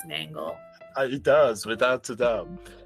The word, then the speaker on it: Nangle: I don't normally, but mangle rhymes with nangle.